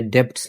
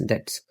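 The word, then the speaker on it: debts: साफ़ करने की आवाज़] इसमें बी का लेटर साइलेंट है ये बी आपने डेप्ट्स नहीं कहना इट्स डेप्ट्स द डेप्ट्स ओड बाय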